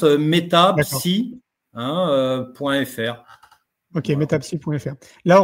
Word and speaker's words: Metapsi: Euh comme ça se prononce mettapsi hein euhfr.